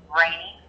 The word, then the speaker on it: Rainey: Rainey. Rainey? Yeah, it's spelled R-E-N-Y, but it sounds like R-A-I-N-Y.